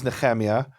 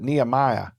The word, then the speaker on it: Nehemia: So my name is Nehemia, but when I talk to people here in Texas, they can't say ch, so they pronounce it Nehemiah.